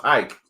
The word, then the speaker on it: Hayek: It's pronounced Hike. It's like Hike.